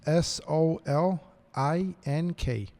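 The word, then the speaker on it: Solink: use for cameras uh so how do you spell that s o l i n k so link okay um we we starting to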